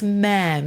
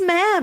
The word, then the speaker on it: ma'am: It is ma'am. It rhymes with ham.